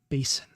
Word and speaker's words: basin: Uh, she says basin with a nonvoiced S, whereas I tend to pronounce it voiced as though it were spelled with a Z.